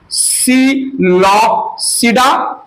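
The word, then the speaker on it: Psilopsida: चार क्लास है सुनिए सील सडा देन लाइको सिडा देन स्फेनो सिडा स्फेनो सडा और एक क्लास है रोप सडा रोप सिडा ठीक है सिलो सिडा में प साइलेंट है लाइकोपस स् फेनो सिडा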